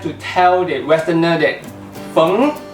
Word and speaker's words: Feng: tell that Westerner that feng is not pronounced as fang and you corrected him